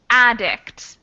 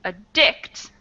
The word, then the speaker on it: addict: on and the tips we have stress on the ad versus stress on the dic so the first one number seven is addict and the second one is addict so those tips on